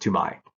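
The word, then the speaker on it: Toumaï: basical he was actually talk about this it's pronounced to my and it was discovered by this French paleontologist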